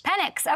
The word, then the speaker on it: Penix: I don't know. Penix. Penix. Okay, great. I'm glad you said it correctly so I didn't mess it up.